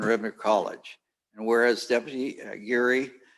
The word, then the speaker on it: Aguirre: Did I pronounce it right? Aguirre.